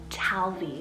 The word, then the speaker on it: Talvi: the list is the name talvi spelled t-a-l-v-i talvy it's finnish originated meaning water so it has